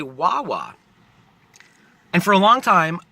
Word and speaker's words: Wawa: say wah wah right if you put any consonant in front of AWA you're gonna get a sound that rhymes with tawa not not tawa not